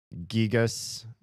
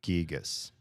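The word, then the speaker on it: Giygas: I would trust that it's probably supposed to sound more like gigas than gigas just based on the gigu because they if they wanted it to sound more like guy they would have done a ga character instead of a gee character gu gigu but they called it gigu. So I think it should be gigas.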